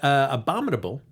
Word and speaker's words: Abominable: So, folks, we've got Abominable, right, Amy?